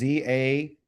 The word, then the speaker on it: Zayin: here for the Zayin, this letter right here called the Zayin is Zayin. That's the name of the letter. Okay. That's what how you say it. Zayin. Okay. That's the name of the letter. The sound is Z, like Z is in zoo. Okay.